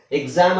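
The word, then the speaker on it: exam: ಹೇಳೋದಾದ್ರೆ ಇದರ ಉಚ್ಚಾರಣೆ ಅಂತ ಈಗ ನಾವು ಸಪರೇಟ್ ಆಗಿ ಉಚ್ಚಾರಣೆ ಹೇಗೆ ಬರುತ್ತೆ ಅನ್ನೋದಾದ್ರೆ ಎಕ್ಸಾಮ್ ಅಂತ ಹೆಂಗೆ ಬರೀತೀವಿ ಈಗ ಇದಿರೋದು ಹಿಂಗೆ ಆದ್ರೆ ಇದರ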